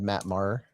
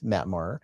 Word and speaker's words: Maher: Maybe I'm pronouncing your last name wrong, said Matt Maher. We're sorry. It's Matt Mar.